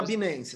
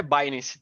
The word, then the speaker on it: Binance: Na verdade, a pronúncia certa é Binance, mas eu fico falando Binance.